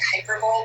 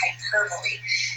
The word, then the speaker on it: hyperbole: of exaggeration is called hyperbole it kind of looks like hyperbole but that's not the way we pronounce it it's hyperbole and it's an exaggeration